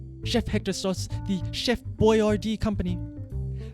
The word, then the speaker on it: Boyardee: hector sauce the chef boyardee company they spelled the name phonetically to keep american tongues from twisting on the italian pronunciation but who is this